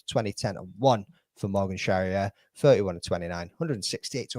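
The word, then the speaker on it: Charrière: Sherriier rhymes with derriè.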